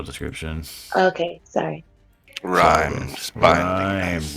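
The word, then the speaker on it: rime: spell description okay sorry Rhymes rhyme rhyme that's it r-i-m-e oh it Rhymes oh I'm sorry I say rims Remy either so you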